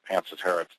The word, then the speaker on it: Pancetera: Uh but as we were out talking to folks uh people are saying Panseter back to us so we changed pronunciation of Panceta.